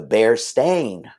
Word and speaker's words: Berenstain: Bearstein. That's what most people would say. The Berenstain Bears. It's Stein. No, Hank. It was always Stain. The Berenstain Bears.